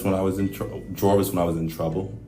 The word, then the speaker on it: Jorvis: a couple I mean you will hear jvis or Jarvis um but it is jvis but um I originally